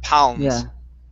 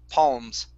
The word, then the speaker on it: palms: is palms now here you started off with an a sound saying pounds okay instead of an ah palms palms there you go